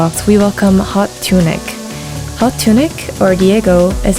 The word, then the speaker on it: Hot TuneiK: So, so I have to ask you, how did your name is it pronounced Hot TuneiK, by the way? Yeah.